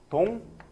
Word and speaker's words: 독립: 라고 했을 때 독립하면 발음 어떻게 해? 동립 이렇게 발음이 되지. 그치? 얘 같은 경우는 둘 다 바뀐 거야. 둘 다. 그치? 독립이라고 했을 때 여기에 있는 기억과 여기에 있는 리을이 그치? 서로 영향을 미친 거야.